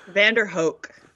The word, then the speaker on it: VanDerHoek: VanDerHoek. VanDerHoek. VanDerHoek. I think okay. I've been mispronouncing it for 10 years.